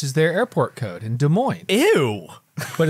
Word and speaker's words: Des Moines: It's like DSM, which is their airport code in Des Moines.